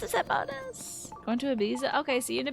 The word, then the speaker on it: Ibiza: Oh, it's pronounced Ibiza.